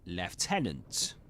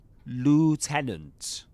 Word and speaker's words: lieutenant: Lieutenant. But in American English, it's lieutenant. Lieutenant. British English, lieutenant.